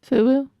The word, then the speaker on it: FUBU: Fubu. Not foo.